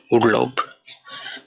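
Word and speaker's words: Urlaub: পরবর্তী ওয়ার্ডটা উ দিয়ে, এখানে লেখা উরলাউব, যার অর্থ ভ্যাকেশন বা ছুটির সময়। এটার উচ্চারণ হবে উ এর এল আ উ বে, উরলাউব, অর্থাৎ ছুটির দিন।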